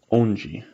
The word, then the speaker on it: onde: When you have a word that ends with like a DE, for example, it actually gives a G sound.